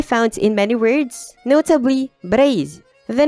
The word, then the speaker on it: Breizh: in many words, notably Breizh, the name of Brittany in Breton. The letter is pronounced Z in KLT dialects and H in Gwenedeg.